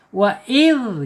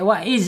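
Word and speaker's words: وإذ: Wa id gitu ya, nggak boleh pakai wa iz lagi ya.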